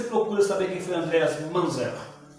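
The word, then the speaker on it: Munzer: Depois você procura saber quem foi Andreas Manzer. Você escreve lá Andreas, M-U-N-Z-E-R, Manzer, pronuncia Manzer.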